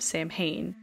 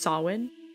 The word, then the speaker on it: Samhain: candy Halloween actually originated from the holiday of Sam Hayne which in my research I actually found out it's pronounced salwin which for the sake of the podcast I'm